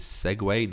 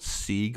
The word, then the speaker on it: segue: for segue method and it is segue not SE or some other hideous pronunciation think of the motorized scooter in prepare for segue